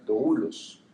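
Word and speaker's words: δοῦλος: pronunciado esta palabra siervos viene de un vocablo griego que se pronuncia doulos Y a lo que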